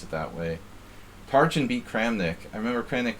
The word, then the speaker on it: Tarjan: to to james tarjan which is actually pronounced taryan it's a hungarian name but he doesn't pronounce it that way tarjan beat kramnik i remember